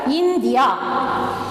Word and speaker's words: India: See the word India. இதுல in, ஓகேவா? இன்ன நான் ஸ்ட்ரெஸ் பண்றேன். in. Okay, Dia I am not stressing, so it is stressed.